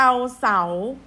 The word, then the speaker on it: เศร้า: เสียง แต่ จอ จาน คำ ว่า เศร้า ศ. รอ เอา เสา ไม่ โทร เศร้า จะ ออก เสียง แต่ ส.ส. ยะลา ก็ อย่า ลืม นะ